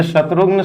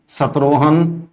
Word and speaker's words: शत्रुघ्न: शत्रुघ्न जो शब्द है यह शत्रुघ्न शब्द को कोई ऐसे बोलना है सत्रोहन कोई बोलते हुए देखें जाते हैं समाज के लोग यह सारे के सारे उच्चारण गलत है हिंदी हिंदू धर्म के